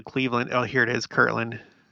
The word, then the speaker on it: Kirtland: Kirtland in the thumbnail I know it's Kirtland it may just sound the way that I speak like Kirkland it kurtland okay it's just the way that I talk do I need to